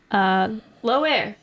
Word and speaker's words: Loire: Low air is how you say that.